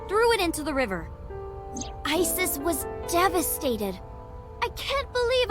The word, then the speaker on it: Isis: something else obviously this is a different thing they don't you don't want to change but this thing yeah mom is named isis but in ancient egyptian it's pronounced closer to isa or asa hmm how do i